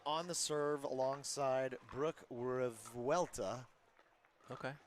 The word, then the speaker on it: Revuelta: We've got Lauren Mercado on the serve alongside Brooke Revuelta. Okay. I checked for pronunciation. It's fairly correct, Revuelta.